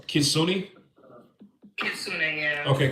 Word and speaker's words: Kitsune: So, is the name pronounced Kitsune? Kitsune, yeah. Okay, Kitsune.